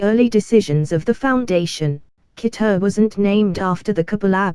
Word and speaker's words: Keter: Keter wasn't named after the Kabbalah but a German doctor, for instance. So that's why it rhymes with Peter and not better.